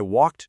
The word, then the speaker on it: walked: Yesterday, I walked to the park. The verb walk ends in that voiceless c. So, we add the t sound at the end.